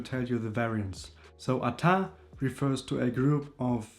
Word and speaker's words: ata: We have one which is pronounced as ata and these two are also almost the same in gig and tusk.